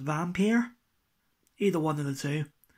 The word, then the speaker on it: Vampyr: as you can see it's four vampire or I believe it's pronounced vampeer either wonder that's a